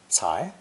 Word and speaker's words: 才: Our next character is a pictogram of a sprouting plant that has pushed through the soil above it, and it's pronounced second tone, cai, cai.